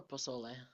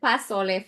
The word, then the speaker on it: pozole: I mean, now that I know how to say it right, pozole. I Okay. I said pasole for the longest time.